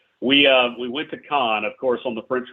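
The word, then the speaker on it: Cannes: Khan uh I know a lot of people pronounce it canned the French pronounce it Khan so we uh we went to Khan of course on the French Riviera now my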